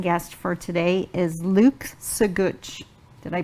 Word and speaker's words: Sagutch: and my amazing guest for today is Luke so good did I pronounce it right yeah yes I got it